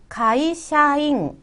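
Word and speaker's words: 会社員: 한 번 에 전부 발음 해야 해 요 . " 시야 " 가 아닙니다 . 작은 " 야 " 입니다 . " 카이샤 " 는 회사 를 의미 합니다 . "in" 부분 은 "in" 으로 발음 됩니다 .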